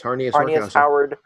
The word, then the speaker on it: Harnius: Harnius. Is that how you pronounce it? Harnius? Yes. Yeah. It's Harnius. Harnius Howard Horkhauser.